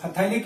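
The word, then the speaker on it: phthalic: क्यों, क्योंकि इस रिएक्शन में आप जो फथैलिक एसिड बन रहा है ये क्या है, फथैलिक एसिड, इसको थैलिक एसिड भी कहते हैं, पीएच साइलेंट रहता है।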